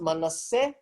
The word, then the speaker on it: Manasseh: The reason why it is pronounced Manasseh is because there's no sh sound in Greek.